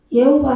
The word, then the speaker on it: 여호와: 이게 예 발음 나니까. 예. 예호바 해도 되고 여호와 해도 돼요.